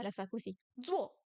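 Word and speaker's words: 坐: Zuo, zuo, zuo. S'asseoir. Le Z se prononce comme z en français. Zuo, zuo. Quatrième ton.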